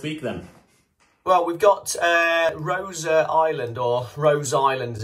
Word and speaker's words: Rosa: Well, we've got Rosa Island, or Rose Island as it is on Netflix. But I think it is Rosa, because that's how the Italian second name would be pronounced.